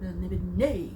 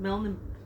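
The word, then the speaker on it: Melniboné: history tidbit background, and the enthusiasm with which he pronounced the title of the world, Melnibone, with a little blah at the end. It's like Melnibone, not just Melnibone, Melnibone.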